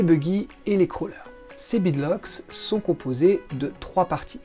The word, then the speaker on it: beadlocks: Oui, parce qu'en anglais ça se prononce beadlocks, même si en français on a un peu pris l'habitude de dire bedlocks.